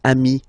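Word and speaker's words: amis: So singular form amii plural form you add this s but it's amii as well.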